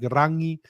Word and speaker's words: Rangi: The North pronounce NG like Rangi, and the South substitute it for K like Raki.